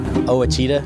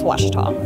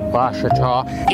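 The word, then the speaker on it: Ouachita: Back in Texas, everybody pronounces it Wichita, but really, it's Washita. Washita. Washita. How would you pronounce it? Washita. Washita.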